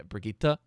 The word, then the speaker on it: Brigitte: That's how you say it. Brigitte. It's a hard Brigitte.